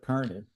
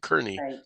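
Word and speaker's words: Kearny: you said it is the the old correct pronunciation. I think Fort Carney in Nebraska in the Nebraskans call it Fort Carney.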